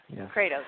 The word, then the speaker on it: Kratos: has the highest yield I'm sorry if I mispronounced that Kratos Kratos thank you yeah both are very